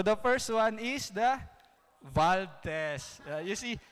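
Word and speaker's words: Wald: So the first one is the valve test. You see, because it's, I think, a German or something, so the W should be V when pronounced. So it's a valve test.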